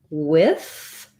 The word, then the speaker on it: with: have in the word with uh some people pronounce that with a voiceless th many people will pronounce with with a voiced th both are correct so